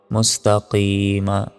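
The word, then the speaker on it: مستقيم: কি মিম জবর মা মুস্তাকিমা থামলে তিন সেকেন্ড জানবেন মুস্তাকিম ইহদিনাস সিরাতাল মুস্তাকিম তারপর সদস্য সুই র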